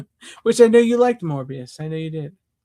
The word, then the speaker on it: Morbius: Which I know you liked Morbius. I know you did. It rhymes with glorious.